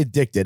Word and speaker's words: Edikted: The brand, when I say Addicted, I mean a brand that is spelled EDIKTED, right?